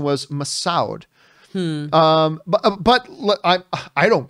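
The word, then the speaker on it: Massoud: that meena masood's name is said ma sued rhymes with dude hope he is the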